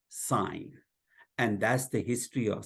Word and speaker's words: sine: to write sin but they are going to pronounce it sign and that's the history